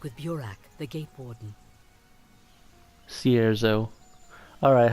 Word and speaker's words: Cierzo: Alright, so they pronounce it Cierzo, not Cerzo.